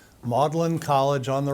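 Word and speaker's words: Magdalen: And you have you have Mlin College. That is how it's pronounced. Modellin College on the right which is where he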